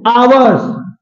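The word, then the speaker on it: hour: की बात कर रहे हैं ठीक अब देखो आवर्स एच ओ यू आर आर आ आ से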